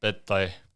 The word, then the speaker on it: Pettai: of your full name Simon P Tha like Pad Thai like the food in Thailand sounds like yeah sick sick okay